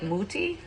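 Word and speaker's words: Mutti: That, like, if I'm doing raviolis or, you know, if I'm doing big ziti, I like muti. That's how you say it.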